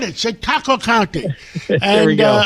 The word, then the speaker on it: Chautauqua: I said it, Chautauqua County.